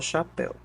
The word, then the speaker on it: chapéu: Ele já me diz que chapéu é uma palavra oxítona. E isso é fácil de saber porque o acento gráfico me revela, né, que a sílaba tônica está na última sílaba da palavra, né?